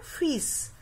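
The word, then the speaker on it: फ़िश: यहाँ जैसे मैंने लगाया है ना फिश, क्या होगा उसका उच्चारण? फिश।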